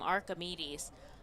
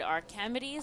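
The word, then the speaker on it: Arquimedes: change up from bass now we pronounce his name archimedes um i was told earlier by our manager as he goes down swinging that um sometimes he'll pronounce it our comedies so we'll be going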